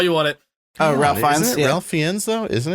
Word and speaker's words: Ralph Fiennes: Oh, Ralph Fiennes? Yeah. Ralph Fiennes, though, isn't it? He did it again. Yeah, Ralph Fiennes. Fuck you guys. That's how it's spelled, but he pronounces it Ralph Fiennes.